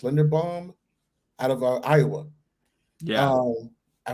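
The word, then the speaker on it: Linderbaum: the linda lin uh i believe his last name is pronounced lender bomb out of iowa yeah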